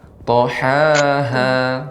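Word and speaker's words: طحاها: Yang kedua baru ha besar. Kalau ha tempat keluarnya adalah bagian bawah. Tohaha, seperti itu.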